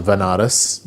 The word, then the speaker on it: Banaras: So I ended up going to Banaras, which is a place in in India, sometimes pronounced as Vanaras, which is a place